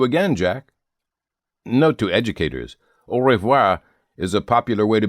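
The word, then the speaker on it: au revoir: Note to educators, orvoir is a popular way to bid goodbye to someone when you are going to see them sometime soon.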